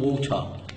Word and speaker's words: water: تمام، مفيش ووتر في الانجليش، الميه. يا اما تقول واتر امريكان، او يا اما تقول ووتر بريتش. مفاجاه سربرايز، مش لازم تنطق الار الاولانيه.